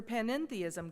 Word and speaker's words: panentheism: Panentheism is very different from pantheism with which it is often confused. Pantheism lacks that extra syllable N which makes all the difference.